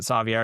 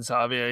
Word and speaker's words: Savier: Um, and like I still pronounce it Savier because that's how the skateboard brand pronounced it.